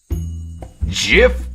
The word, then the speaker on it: Jif: gift peanut butter um you are aware it's pronounced Jeff right oh no silly this is a Jeff Jif peanut butter traffic interchange